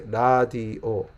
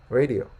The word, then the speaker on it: radio: Radio, but Korean people say radio. Notice that how the pronunciation different. Americans say radio. Koreans say radio, right?